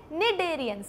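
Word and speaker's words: Cnidarians: हम क्या बोलते हैं, निडेरियंस। क्या बोलते हैं, निडेरियंस। लिख भी देती हूँ मैं यहाँ पर, निडेरियंस, निडेरियंस। मैम सी तो आप बोल ही नहीं रही हो, अरे साइलेंट है यार, ठीक है।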